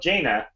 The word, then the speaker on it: Jaina: She is a Canadian independent wrestler by the name of Jaina. Yeah, that's right. I've checked it. That's the correct pronunciation.